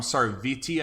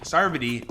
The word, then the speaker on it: Sarvity: I used to call him Sarviti, I believe. I used to say it really bad.